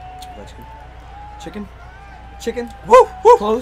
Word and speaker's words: Ovechkin: Oven chicken? Oven chicken. That's close. Ovechkin.